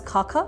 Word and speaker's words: Xaxa: Khaka sir, pronounced as Khaka, written as XAXA.